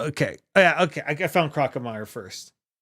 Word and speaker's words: Crocomire: I found Crocomire first. Is it Crocomere? I always said Crocomire. I always pronounce it Crocomire. It is Crocomire.